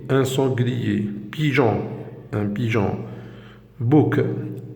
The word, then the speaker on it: bouc: Bouc, un bouc. On a le C, on le prononce.